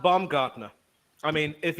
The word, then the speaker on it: Baumgartner: Boom got. Try and pronounce it. Yeah, Boom got no. Yeah, just give him his first name, man. That's all we need. Oh, it's actually pronounced Baumgartner.